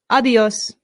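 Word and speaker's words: adiós: A good way to say goodbye in Spanish is a simple adios. Adios. Adios. Excellent. Adios. Notice the accent. This is where our stress is.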